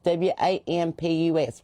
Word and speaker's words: Wampus: Now the Wampas Cats, it's spelled wrong. It's W A M P U S. Wampus.